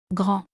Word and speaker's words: grand: Gro, the letter D at the end is silent.